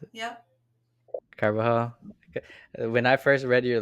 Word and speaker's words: Carbajal: Carbajal, is that how you pronounce it? Yep. Carbajal.